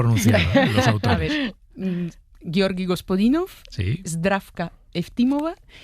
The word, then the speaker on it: Gospodinov: Ayúdanos a pronunciar los autores. A ver, Georgi Gospodinov, Zdrafka Eftimova y Vera Mutavchieva.